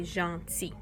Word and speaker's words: gentil: So keeping the silent L at the end, and now you would say gentil, but you don't pronounce the L.